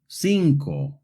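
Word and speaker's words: cinco: The letter C in Spanish can make a hard C sound like in the words casa coco but it can also make a soft C sound like in the words sinko resetta. This happens when the C is followed by an E or an I.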